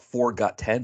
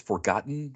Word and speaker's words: Forgotten: So I would always call it Forgot 10, but it's Forgotten, right?